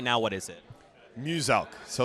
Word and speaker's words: Muselk: Now, Muselk wants you to know his name is pronounced as Muselk, the Australian-based content creator down there.